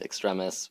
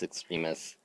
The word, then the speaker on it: Extremis: I used to pronounce it Extremis because that's how I read it, but it's Extremis.